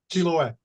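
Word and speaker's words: Chiloé: have to help me with this Anton Chiloway. Chiloway. Thank you. Uh he is also the co-editor of Monoky's Can you pronounce this book title for me too?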